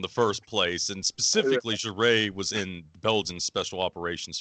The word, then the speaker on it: Jouret: Jouret. Jouret, Jouret. Jouret, okay. Yes, I saw about a half a dozen different pronunciations for this when I was trying to look it up, so that's helpful.